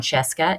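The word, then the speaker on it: Scieszka: story under the rug john Cheska is how you say the guy's name he is one of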